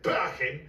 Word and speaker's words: Parkin: And that's Parkin, or as we pronounce it in Yorkshire, Parkin.